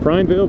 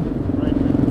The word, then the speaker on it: Prineville: Adventure2Wheels rode down from, how do you say it? Is it Prineville? Prineville? Prineville. From Prineville, Oregon. To hang out with me for the weekend.